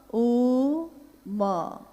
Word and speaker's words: ओम: अगर एक साथ सुना जाए उसको, तो उसकी आवाज गूंजती हुई ऐसी है जैसे हम बोलते हैं या उच्चारण करते हैं तो हम कहते हैं ओम, है वो आ उ मा, यानी उत्पत्ति, स्थिति और